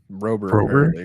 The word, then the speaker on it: Rober: Is it Robber or Rober? Rober, according to okay, so Mark Rober, YouTuber, very well known to do really cool inventions and innovations and stuff.